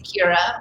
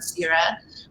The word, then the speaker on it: Ceara: So it's Gaelic and okay, 2 syllables. So if I'm in Ireland, they say Ceara, but my parents decided on Ceara, like the goddess of grain, Cearas, and I was called cereal in kindergarten a lot.